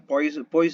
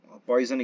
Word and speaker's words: Poisson: okay um next one poison equation is an example actually the French pronunciation is spoos on so poisson equation what we speak here is an example